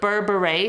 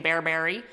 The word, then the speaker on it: berbere: in there this is burberry seasoning i actually had to get the pronunciation on google because i've been calling it very wrong very american bearberry it's an ethiopian 12